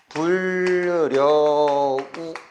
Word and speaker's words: 불여우: 예를 들면 불 더하기 여우 하면 이제 불여우 이렇게 되는 거잖아. 그런데 우리가 어떻게 발음해? 불려우 이렇게 발음한다고.